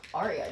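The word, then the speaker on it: Aria: Arya is spelled A R I think it's just spelled the the this Ara just like the name.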